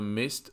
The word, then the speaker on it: midst: The Chinese and American economies are inextricably intertwined, even in the midst of the trade war。